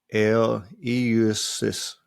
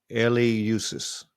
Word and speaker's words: Eleusis: Eleus, Eleusis. I guess that's how you say it. I don't know. It don't have a pronunciation next to it, so we're going to go with it. Eleusis, situated west of Athens, became the most important